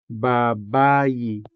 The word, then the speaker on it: babayi: And another example, babayi for woman. Or it could also be female. Babayi, babayi, with the stress on the second syllable.